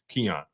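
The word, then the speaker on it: Quinyon: pronounce it but I'm I'm G say um Keon uh because uh that's how the coach pronounced it so I'm roll with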